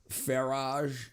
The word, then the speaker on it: Farage: Farage at the garageel spelled like garage but it's far French. Yeah, I might be a French. Farage.